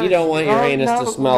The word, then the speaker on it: Uranus: And it's not Uranus. It's Uranus, because that's the way the town pronounces it.